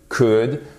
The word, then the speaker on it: could: Vous ne prononcez jamais le L dans should, would, could. OK? Would, should, could.